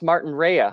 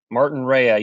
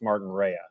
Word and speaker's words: Martinrea: too so it's pronounced martin rhea huh martin raya yeah a lot of people pronounce it martin ray but it's martin rhea gotcha gotcha so now